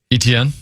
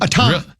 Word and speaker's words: Etienne: it's the running back, Etienne. Etienne? That's not how you say it. It's Etienne. Really? That's how you pronounce his name.